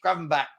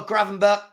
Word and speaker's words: Gravenberch: Gravenberch. It's Dutch, so it's Gravenberch. Probably. Bech. Yeah, because they get that. Yeah. Probably Gravenberch. Good play. So McAllister off for Gravenberch and Gakpo off for Jota.